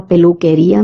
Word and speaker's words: peluquería: La peluquería means salon. QUE is pronounced as K, as I told you earlier.